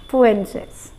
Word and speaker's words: Fuentes: T sound is silent. Fuentes.